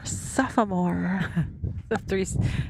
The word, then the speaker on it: sophomore: Sophomore. It's a solid 3-syllable word for Eric.